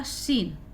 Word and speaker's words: scene: तो इन एग्जाम्पल्स में हम ये कह सकते हैं कि यहाँ पे सी साइलेंट नहीं है बल्कि एस साइलेंट है। SCENE उच्चारण है आपका सीन। ठीक है, तो अब आप